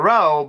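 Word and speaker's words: Roe: And to clarify, it is spelled R-O-E. I know a lot of people get that wrong, and that's okay, because it sounds the same, but yeah.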